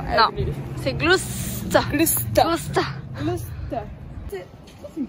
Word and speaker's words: Gloucester: Comment tu prononces ça? Gloucester. Non. C'est Gloucester.